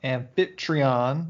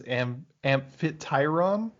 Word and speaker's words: Amphitryon: And then as Hercules prepares to leave, his mom tells him that he is not the son of Amphitryon, once again.